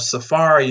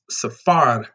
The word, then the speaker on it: safar: and arabic the word safari is i'm probably saying it wrong and arabic is a word for travel so they it coincides with the swahili they say safari in arabic is safar or safar travel and the what